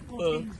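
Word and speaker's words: Heping: Ang spelling niya, H-E ah, hindi H-O. H-E-P-I-N-G. Pero ang bigkas niya, Hoping.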